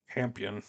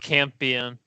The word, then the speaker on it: Campion: Is it Campion? I thought it was Champion. Whatever. Champion. Yeah, I think it's pronounced Campion.